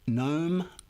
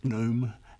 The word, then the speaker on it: gnome: These are words where we pronounce one letter, but not the other, like knife, not knife, gnome, not gnome, and thumb, not thumb.